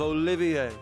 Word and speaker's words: Olivier: have you take care to say my name properly i am the drifting poet and seeker of love olivier oh he sounds good